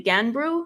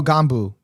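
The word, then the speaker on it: Gganbu: And then there was one in the Marvel episode, the Ganbru. Is that how you say it? Ganbru? Ganbru? Oh, Ganbu. Ganbu. Yeah.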